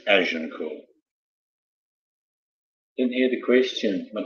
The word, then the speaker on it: Agincourt: Actually, it's spelled Agincourt, but it's Agincourt.